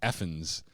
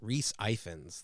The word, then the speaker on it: Ifans: yeah, I think it's Effens because I think his birth name was Evans, and I think this is the Welsh version of that because the Welsh have a weird way of butchering the English language.